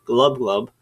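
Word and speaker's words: Gl'bgolyb: Pik sees lucus is Glo glub that's how that's pronounced by the way a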